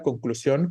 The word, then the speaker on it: conclusión: Pero en concreto la sílaba tónica sería este sion, ¿no?